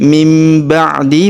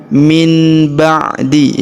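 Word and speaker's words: مِنْ بَعْدِ: Jadi mim ba'di bukan min ba'di ya berubah huruf nun sukun berubah menjadi mim mim ba'di.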